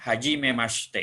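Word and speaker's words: はじめまして: t t atau hajimemaste jadi ini huruf H karena diawal itu bukan kata bantu Jadi dibacanya ini hak hajimemaste ini bukan saya tapi hajimemaste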